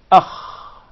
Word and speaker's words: Alif: We already learned how to pronounce the Alif. Remember? A. Yes. A. I want you to feel it. Just put your index finger where the voice stops. A. A. Repeat it until you feel it.